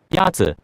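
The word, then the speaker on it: 鸭子: Yazi. Is pronounced with a first tone. In Mandarin, there are 4 tones, which are essential to distinguish the meaning of words. The first tone is a high-level tone. Oh, okay.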